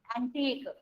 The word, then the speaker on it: antique: UE is silent in this word. Antique.